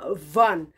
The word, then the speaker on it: Vaughan: tulisannya Va ugan karena ada huruf kalau Indonesia bilang ada huruf g a Maha itu jadinya silent nggak dibaca jadi bacanya okvan Oke jadi kita mau